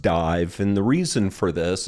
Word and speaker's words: DIIV: the band's name is spelled di IV it's pronounced dive and the reason for this is that the